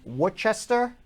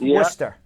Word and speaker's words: Worcester: best of luck let's go to jim in worchester massachusetts jim jim how are you worcester worcester but pronounced worcester what's going on yeah yeah oh good so